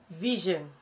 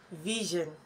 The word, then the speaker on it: vision: my bosom friend three Vision Vision not Vision not Vision not vision but Vision did I hear you say Vision just the way you pronounce your television Vision can you see